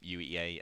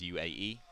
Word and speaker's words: UEA: We had some, shall we say, less professional casters than us, and they repeatedly were mispronouncing the name UEA as UAE.